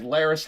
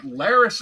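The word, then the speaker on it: Larys: Chad was saying like Laris has a lot of little finger Vibes and that's true like he's master of Whispers And His Name rhymes with Varys so your mind goes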